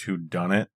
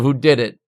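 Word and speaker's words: whodunit: same thing the pron the correct pronunciation is who done it who who done it instead of who did it but maybe in that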